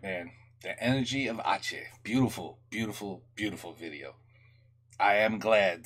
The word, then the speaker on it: Aceh: I should have known that the C is pronounced like SH, like a chair. Aceh. All right, man, the Energy of Aceh.